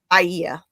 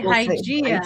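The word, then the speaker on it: Hygieia: Iea. That would be the Greek way to say say it most English speakers. No, I say Hygiea.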